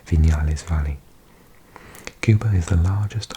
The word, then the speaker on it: Viñales: Cuba has 9 UNESCO World Heritage Sites, including natural wonders like Viñales Valley. I pronounce V's like a B. Viñales Valley.